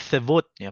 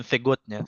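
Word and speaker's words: сегодня: Jadi sevotnya, bukan segotnya, sevotnya.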